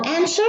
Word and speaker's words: answer: Now answer is in the middle, the W is silent.